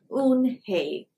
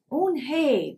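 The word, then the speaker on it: Eunhee: joey she nodded slowly yes it's pronounced oon hey and it means grace mr kim added on hey joey said slowly and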